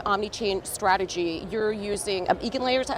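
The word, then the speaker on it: EigenLayer: to create an omni chain strategy you're using Egan layer is that how it's pronounced igen layer okay so um tell us about the recent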